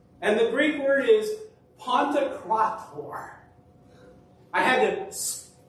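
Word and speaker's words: Παντοκράτωρ: And the Greek word is Pantokrator. I had to sound it out for me in my notes, so I say it right. Pantokrator.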